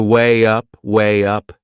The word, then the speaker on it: weigh up: There is another linking sound in that phrase. To weigh up, can you hear it? We insert a little Y sound.